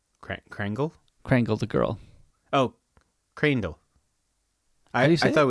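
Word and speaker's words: Kreindel: that's why it's Java Crandall you are right k-r-e-i-n-d-e-l Crandall yeah I thought it was krangle all right have you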